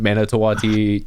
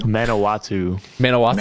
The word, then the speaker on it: Manawatu: When I walk in that pits and I put on my other mask, Manitowati Titans player, or however you pronounce their team name. Manawatu.